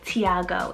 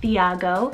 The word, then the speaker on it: Thiago: the name tiago t-h-i-g-a-o tiago in english you could either do tiago or you can do thiago it means god will